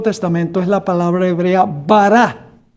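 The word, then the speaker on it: bara: La palabra creó en la Biblia, en el Antiguo Testamento, es la palabra hebrea bará. Bará B A R A con acento en la A final.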